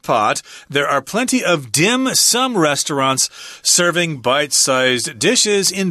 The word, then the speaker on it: dim sum: this of course the the mandarin term is din seen but of course in Cantonese it's pronounced differently dim sum I don't